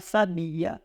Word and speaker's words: sabia: Então nós temos aqui essa palavra muito morna, sabia, sabia. Essa aqui nós falamos que é uma sílaba átona, sabia, porque a intensidade não recai nenhuma delas.